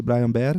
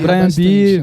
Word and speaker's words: Bryan Behr: É Brian Bear? Isso, exato. Porque já falaram. De tudo. Brian Beer, né? Brian Bear, Brian Beer, de tudo.